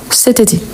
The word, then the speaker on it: cet été: ça on dit ce mais ici il y a une voyelle donc on va faire la liaison et on dit c été C été donc c été on prononce tout ensemble cet été OK cet été je